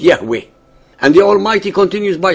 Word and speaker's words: Yahweh: referring to himself as I am which in Hebrew is pronounced Yahweh and the almighty continues